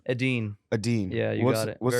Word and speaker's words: Edin: Help me pronounce the name. Edin.